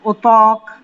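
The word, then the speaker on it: اتاق: উচ্চারণটা খেয়াল করেন, তে এর পরে আলিফ আছে, এই জন্য আমি ত বলেছি, ওতক, ওতক।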